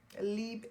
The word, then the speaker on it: Libre: But YSL, Libre Intense.